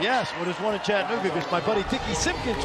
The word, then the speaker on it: Chattanooga: Four syllables. That's right. Chattanooga, home of Cracker Barrel.